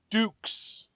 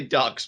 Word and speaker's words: Dux: for me uh Tyson how is his last name pronounced one last time for live reactions here Dukes Dukes okay Tyson Dukes I was goingon to say ducks but I knew it was going to be wrong so I'm glad I deferred